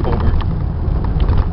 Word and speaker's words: Hobart: name on it obviously that's holbert spelt hobart pronounced hobart another gentleman that founded